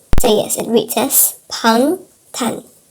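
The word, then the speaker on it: 방탄: So yes, it reads as pang tan. Pang tan. If you spell it out, it actually reads that as well.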